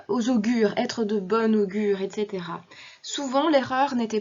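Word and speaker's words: bon augure: féminin et c'est normal puisque la liaison augure commençant par une voyelle oblige à prononcer bon comme s'il s'agissait du féminin bonne être de bonne augure bien qu'il s'agisse bien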